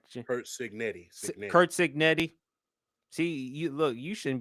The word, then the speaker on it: Cignetti: But Kirk Lebnetti, how he has done. I'm sorry. I hope I'm pronouncing the name right. Kurt Cignetti.